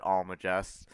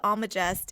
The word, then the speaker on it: Almagest: Yeah, I think the G is pronounced like a J here. I'm not sure, but I've always said it Almagest.